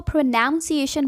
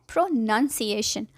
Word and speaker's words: pronunciation: Mostly लोग इसको प्रोनाउंसिएशन बोलते हैं, जबकि सही वर्ड है प्रोनंसिएशन। क्यों भाई, नन लिखा होता है बट हम लोग भी ना प्रोनंसिएशन। यस, प्रोनंसिएशन।